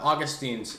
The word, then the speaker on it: Augustine: there's some like uh Augustine's um or Augustine I don't know how to say it I'm not Catholics say Augustine okay um at least